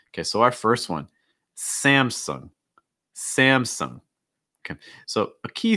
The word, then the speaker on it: Samsung: our next one okay so our first one samsung samsung okay so a key thing here for samsung is that um you have that a sound